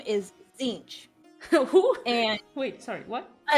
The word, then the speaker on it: Tzeentch: name is Tzeentch. Who? And Wait, sorry, what? Tzeentch, it's, oh my gosh, you don't even want to know how to spell that. It's awful. Zinch? It's like Tzeentch.